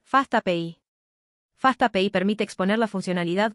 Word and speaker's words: FastAPI: Ahí entra Fastapi Payi, que vamos a pronunciar Fastapi.